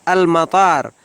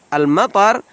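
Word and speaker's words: مطار: artinya bandara Sebagai tambahan Jangan sampai salah pengucapan pada kata Alma far karena Alma far artinya bandara kalau dibaca pendek Alma far artinya hujan Hai tab kita lanjut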